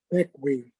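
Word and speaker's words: Bequia: square miles um unlike its spelling it's it's pronounced beckwi thank you that's looking west at the sunset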